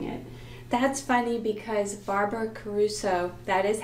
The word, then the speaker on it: Caruso: That's funny, because Barbara Caruso, that is how you say her name, is on my list of favorite narrators.